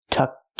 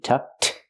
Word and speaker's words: tucked: is not tucked in we hear the pronunciation tucked in the past pronunciation is a t tucked link it to the next word in tucked in his shirt